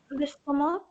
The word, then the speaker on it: estomac: The C is silent. Right. So C is silent. it's l'estomac, even though it's written with a C. It's a silent C, like often in French, last words are silent.